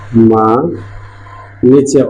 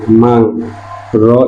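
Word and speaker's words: 망리: মাংরি এটা উচ্চারণ হবে না, হবে মাংনি, মাংনি। ইয়ং এর পরে রিয়ল থাকলে রিয়লটা ন হয়ে যায়।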